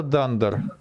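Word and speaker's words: dunder: далее Далее пишем подчёркивание читаются как дандер даво подчёркивание - это дандер запятая магический метод два нижних подчёркивания это дандер читается как дандер запятая магический метод кивание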